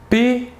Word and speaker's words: pétrole: Premier exemple, pétrole. Ici, le « et » s'écrit de la manière suivante, un « e » avec un accent aigu.